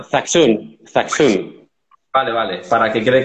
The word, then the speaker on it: Zaxun: Y otra cosa, antes de nada, se llama, pronunciándolo, ¿es el sello de Zasun o el sello de Zachun? Es una... Zaxun.